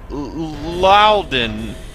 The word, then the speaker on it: Loudon: First comment comes from, oh boy, Habersnickel Loudon. And he says, last name is pronounced Loudon.